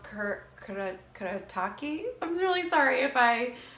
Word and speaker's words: Kuretake: They're from Japan, and I think it's pronounced Kuretake.